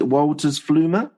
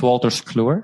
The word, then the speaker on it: Wolters Kluwer: Your first major role was as an IT consultant is it Wolters Flumer? Is that bad pronunciation? No, it's Wolters Kluwer, and at the time we were not called that.